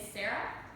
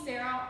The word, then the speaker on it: Sarah: so my name is Sarah you can call me Sarah or Sarah it's a little bit confusing but actually in America many times Sarah or Sarah it's the same name just pronounced differently there are a lot